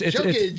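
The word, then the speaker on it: Jokić: Yeah, no, it's Jokic.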